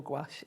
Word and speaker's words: gouache: And you can pronounce it gash or gouache.